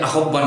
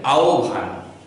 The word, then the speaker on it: আহ্বান: আকার দিলাম দন্তনা দিলাম তাহলে উচ্চারণটি হচ্ছে আহ্বান আমরা অনেকেই এই উচ্চারণটিকে আহ্বান বলি অনেকেই আমার দেখা মতো অনেকেই আমরা আহ্বান বলি আহ্বান হবে না উচ্চারণটি হবে আহ্বান এরপরেরটি ঠিক সেই একইভাবে